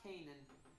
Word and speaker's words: Canaan: Yeah, no, it's not pronounced that way. It's pronounced Canaan. It's actually, Canaan.